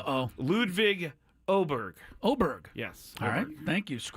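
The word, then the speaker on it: Åberg: hopefully they'll get going here shortly uh ludvig aberer I found out I've been pronouncing his name wrong uh ludvig oh Berg oberg yes thank you SC how did you find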